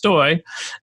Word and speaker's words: Stoj: that goes back to my name being spelled stoj however it's pronounced stoy um like boy and so my handle